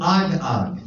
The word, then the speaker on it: Agag: And the king of Amalek was Agag.